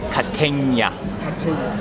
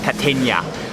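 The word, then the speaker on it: Kategna: It's called, you pronounce it Catenia. Catenia.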